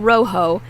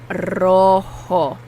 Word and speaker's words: Rojo: And the O's are Spanish O's. O, not O, or not Rojo. Not Rojo. It's Rojo.